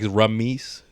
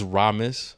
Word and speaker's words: Ramus: pronounce it that way so like ramese but like it's ramus I don't know like it's just I don't know I just thought it was remiss but it's ramus but but yeah so